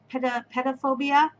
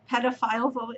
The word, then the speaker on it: pedophobia: guess it's called, and I kept saying it wrong, and it's like pedophobia or something. And I'm like, pedophile phobia? No, not pedophile. Pedophobia, which is a fear of children.